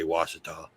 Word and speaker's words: Ouachita: in ouachita parish but if you look at the way it's spelled it doesn't even say washita what the excellent the